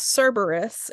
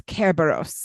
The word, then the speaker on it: Kerberos: Harry Potter I think some people Miss say it as Cerberus which apparently is something else but also related it's weird it's um I think it also has to do with like the Latin pronunciation because I distinctly remember my Latin Professor being like it's Kerberos and I'm like okay I'm